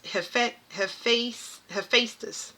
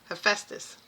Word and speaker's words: Hephaestus: I can't pronounce this. It's Hephaestus. Hephaestus.